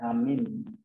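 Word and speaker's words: ἀμήν: Vocabulary kayak misalnya ya ada ini kan masalah lagi angelos angel artinya malaikat ya atau messenger lalu amen nah modern Greeknya bacanya amin jadi sekarang kita jadi pakai namanya amin ya.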